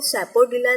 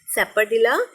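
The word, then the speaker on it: sapodilla: सैपरडिला कहते हैं चीकू को, इसको सैपोडिला नहीं सैपरडिला प्रोनाउंस करेंगे, सैपरडिला चीकू।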